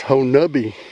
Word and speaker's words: Honobia: messaging me ho nubby it's spelt honobia but he says it's whole nubby now where is area x bajo nobi ho nubby henovia yeah ain't that